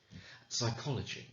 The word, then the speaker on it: psychology: knee with a k psychology psychiatry psychosis all with that silent p on the front but realistically unless you